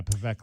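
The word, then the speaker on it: Pavelka: How do you pronounce his last name, DK? Pavekla? Yeah, Pavekla.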